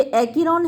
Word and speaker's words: Acheron: तो यहाँ पर थोड़ा सा गलत प्रोनाउंसिएशन उसने किया है, ये एकीरोन है, ACHERON। तो एकीरोन रिवर ऑफ वो